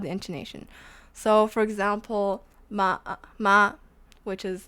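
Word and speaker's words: 骂: So this one would be ma, which is curse.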